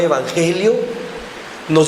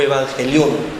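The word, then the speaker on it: εὐαγγέλιον: La palabra evangelio viene de una palabra griega que se pronuncia evangelion o evangelión.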